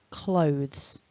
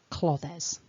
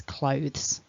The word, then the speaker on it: clothes: into two syllables so when a native speaker of british english says this word we say clothes it's one chunk it's not clothes ever you will hear